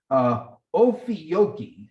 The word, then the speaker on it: Ophiuchi: Here's how you, excuse me, here's how you pronounce it, Ophiuchi Hotline.